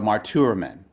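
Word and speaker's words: μαρτυροῦμεν: I don't know any word in English that begins with an R sounding letter and T sounding letter, so they have to be pronounced separately. So I'm going to draw this as mar, tu, rumen. That's how you would break up this word.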